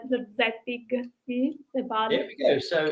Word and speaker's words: Zorzettig: Yes, it's Zorzettig. Yes, with G at the final, Zorzettig.